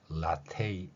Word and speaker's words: latte: 이렇게 변화될 수도 있습니다 자 왼쪽에 있는 라떼는 이탈리아 고요 라테 이렇게 발음한다면 영어 발음이라고 할 수 있는 것입니다 물론 우리는 라떼라고 애를 한 번만 소리내는 방식을 사용하고 있죠 자 앞에서 제가 잠깐